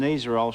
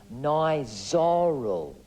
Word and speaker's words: Nizoral: My dandruff used to really annoy me, so I went to the pharmacy and got some Nizoral shampoo. No, Mark, it's pronounced Nizoral.